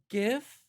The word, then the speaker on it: GIF: their name is pronounced they go half and half gif and jif uh but the fights